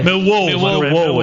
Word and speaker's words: Millwall: You don't say it right. That's why. Millwall. It's accent on the second syllable.